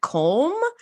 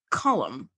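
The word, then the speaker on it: Colm: and I was like comb and then I looked it up it's an Irish name and it's pronounced column but it's not an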